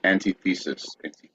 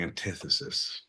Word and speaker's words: antithesis: And antithesis. I believe what we call it is the antithesis, because you put the wrong syllable on the wrong emphasis.